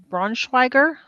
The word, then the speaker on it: Braunschweiger: I'm eating Braunschweiger. Is that how you pronounce it?